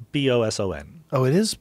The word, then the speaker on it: boson: It's pronounced with a Z, but it's spelled with an S. B-O-S-O-N.